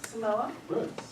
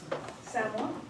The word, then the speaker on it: Samoa: They pronounce it, not Samoa. Samoa.